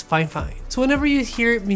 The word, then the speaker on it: Fifine: a little editorial note in this video I say fify but the actual correct way to say this company's name is fine fine so whenever you hear